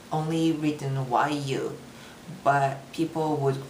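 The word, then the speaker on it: Yuu: It's officially, it's only written YU, but people would pronounce it you. But my name is Yu. It's longer. So I usually spell it Y-U-U, so that you know, oh, it's a long vowel.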